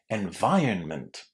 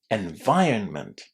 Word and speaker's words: environment: Environment. Environment. So how was the letter I pronounced? It was surprisingly pronounced as I.